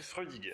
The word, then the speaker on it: Freudiger: Alors, pour bien prononcer, Freudiger, c'est Freudiger.